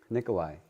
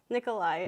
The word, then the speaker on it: Nicholai: Nicholai. Nicholai.